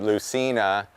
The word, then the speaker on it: Leucaena: So here's a great example where Leucaena, or some people pronounce it Lucina, is this plant.